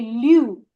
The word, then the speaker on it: lu: So any consonant when it's followed by U, your pronunciation, for example, bu, su, lu. So it's the U sound preceded by the consonant. So it's lu, su, bu.